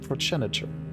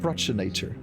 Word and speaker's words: progenitor: so here's my question I've learned in the U.S that you pronounce it progenitor but she clearly said prachinator is it a British pronunciation do you call it